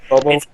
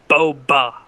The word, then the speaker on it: Boba Fett: Bobo. It's Boba Fett.